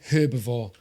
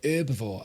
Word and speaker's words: herbivore: yes Americans I said herbivore we pronounce the h in the UK blew my mind that I first come across that and people going herbivore as I herb herb